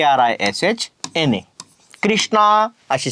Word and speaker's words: कृष्ण: काय सावळा बरोबर आहे मग आता याचा उच्चार ऋषीच्या ऋ सारखा करायला पाहिजे पण बरेच लोक हिंदी